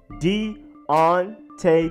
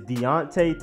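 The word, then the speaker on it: Deionte: many different ways but the correct way is Deonte Thompson not Deonte not de oñate is Deonte Thompson then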